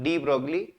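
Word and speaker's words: de Broglie: वैसे डी ब्रॉ नाम है उनका। ब्रॉगली में एल आई साइलेंट है, लेकिन इन जनरल, है ना, फ्लो में हम लोग उसको डी ब्रॉगली बोल लेते हैं।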